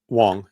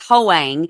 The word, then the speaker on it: Hoang: Wang. Okay. That's how they pronounce it? Yeah. Okay. Wang. But it looks like Hoang, but it's Wang. Yeah.